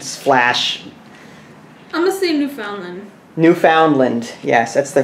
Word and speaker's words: Newfoundland: it's an old splash honestly you found them Newfoundland yes that's the correct pronunciation you found it I'm going with the